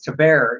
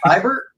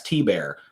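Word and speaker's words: Thibert: said now you know it's to bear and he goes what it's not fiber or thieber i said no yeah i thought it was i i thought the fancy pronunciation so it must be the correct would be uh fiber that's what i thought it was but i thought it was like a french name but yeah it's t-bear which yeah i mean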